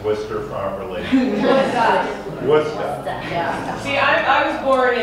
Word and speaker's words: Worcester: Does everyone know how to pronounce Worcester properly? Worcester.